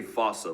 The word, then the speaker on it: fossa: to lemurs everywhere the fusa although with its spelling I'm pretty sure it's actually fossa but the day I pronounce it like that is the day I